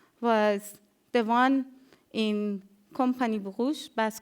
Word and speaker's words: Brugge: one was failed was the one in company Bruges. Bas, correct me if I'm pronouncing it right. You mean Brugge?